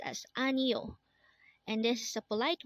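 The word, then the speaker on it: 아니요: book this word is anio again this is pronounced as anio and this is a polite way of saying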